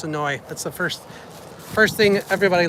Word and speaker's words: Senoia: And again, it is spelled Senoia, but they know you're not from here if you come down and say it like that. So it's Senoia.